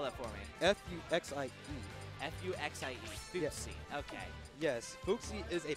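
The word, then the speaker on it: Fuxie: why don't you go ahead and spell that for me? F-U-X-I-E. F-U-X-I-E. Footsie.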